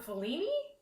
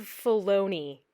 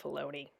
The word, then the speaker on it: Filoni: Dallas Howard has directed, John Fellini? I could be getting his name wrong. Good Lord. Hey guys, Editing Kim here. Yeah, Video Kim, you got that a little wrong. It's Dave Filoni. Dave Filoni.